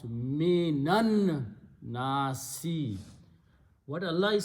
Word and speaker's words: مِنَ النَّاسِ: So we purposely change the sound of this to a fataha and pronounce minan nasi.